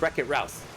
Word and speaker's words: Wreck-It Routh: I mispronounced that. It's not Wreck-It Ruth, it's Wreck-It Routh.